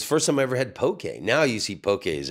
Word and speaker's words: poke: seven different kinds of Pokey and yeah and God bless you for pronouncing it correctly poke it's yeah it's not Pokey it's not spelled p Ki it's p k e it's poke thank you for that